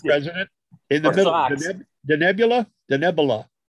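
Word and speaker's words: Denebola: Help me with my pronunciation, Mr. President. In the middle, Denebula? Denebula. Denebula.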